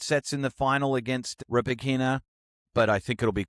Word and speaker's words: Rybakina: Are you talking about Rybakina? Rybakina.